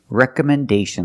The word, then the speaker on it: recommendation: Rec recommendation letters recommendation this word has five syllables distress is on the first re recomendation and the fourth syllable is stressed recomendation again recommendation recommendation letters so again the word is not pronounced recommendation it's pronounced recommendation recommendation letters today we're